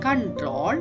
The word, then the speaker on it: Ctrl: CTRL is the short form for control. You have to pronounce as control.